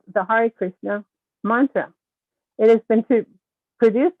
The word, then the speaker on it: Hare Krishna: Hare Krishna, pronounced Ha, H-A-H, Ray, R-A-Y. Ha, Ray Krishna.